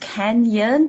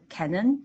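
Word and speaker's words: Cañon: call it I know it's supposed to be pronounced Canyon but then I never noticed the I never noticed that and I always called Canon and I'm like who's Canon or what's Canon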